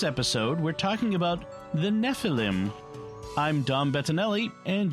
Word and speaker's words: Nephilim: Nephilim yeah Nephilim okay typically in Hebrew the accent is on the last syllable Nephilim I will try to